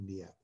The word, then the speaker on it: Niépce: Yes, that's how you pronounce it, Niépce.